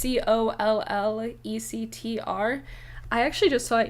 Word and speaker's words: Collectr: It's spelled like Tinder, so there's no R, so it's COLLECTR.